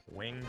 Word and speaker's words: winged: Generally, when the term is used as an adjective, the winged beast left from the cliff, I read it, typically here we pronounce it as winged.